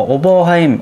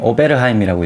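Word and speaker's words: Oberheim: 뭐 오버하임, 오베르하임이라고 읽기도 하고 오버하임 신디사이저랑 시퀀셜에서 나온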